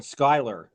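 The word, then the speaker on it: Schuyler: Um the actual town is called Skyler. Uh and it's spelled like S C Hu L Y something like that.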